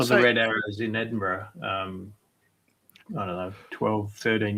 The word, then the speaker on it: Edinburgh: I saw So- the Red Arrows in Edinburgh, I don't know, 12, 13 years ago, flying over the city.